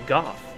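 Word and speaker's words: Gough: pronounced SM that's pretty well established however uh Goff and the new content spelled the same way except with a g at the beginning is pronounced actually Goff we know that because his name is spoken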